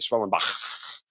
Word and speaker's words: Schwellenbach: Spencer Schwellenbach is starting for Atlanta, and that's how, it's actually how you say it, Schwellenbach.